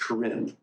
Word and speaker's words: Karen: Minister among the Corin that word Karen is is pronounced Karin Karin tribe um and